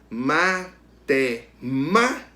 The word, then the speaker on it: matemática: Matemática. O segundo ma, a antepenúltima sílaba é a sílaba tônica. Então a palavra matemática é, né, uma palavra proparoxítona.